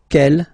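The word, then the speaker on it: quel: for the phonetics okay the way to pronounce them Kell masculine form here will be pronounced exactly as the feminine form here G so only one sound okay and then the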